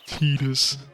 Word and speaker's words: Titus: So yeah, that's the official pronunciation is Titus.